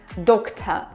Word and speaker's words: doctor: Also, pay attention the r is not pronounced at the end. doctor tomorrow tomorrow Focus on m, make it longer here.